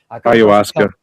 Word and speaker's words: ayahuasca: people that took, I don't know how to pronounce that. Ayahuasca.